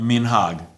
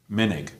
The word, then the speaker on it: minhag: When you don't come from a culture, a minhag, minig. Now you know why. Why is one minhag? Sephardi pronunciation, emphasis on the last syllable.